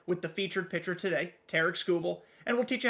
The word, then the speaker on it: Tarik Skubal: That is how you pronounce his name. I looked it up. Not Tarik Skubal, not Harry Scoobs. It's Tarik Skubal.